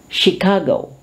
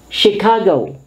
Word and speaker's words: Chicago: Chicago. Chicago. Chaperon. Chaperon is an escort. Chandelier. Chandelier. Okay? So we often mispronounce this, but once again, let's take note of their pronunciation.